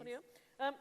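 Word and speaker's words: fonio: Funio, is that how it's pronounced? Yes, please. Funio.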